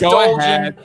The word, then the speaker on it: Dolgen: It's Dolgen. Who are Jack you? Dolgen.